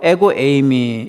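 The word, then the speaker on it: ἐγώ εἰμι: 나는 무엇이다 7번 나옵니다 헬라어로 에고 에이미 이렇게 발음이 되는데요 나는 양의 문이다 나는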